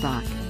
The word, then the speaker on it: Bach: Edward Bach he pronounced it that a British physician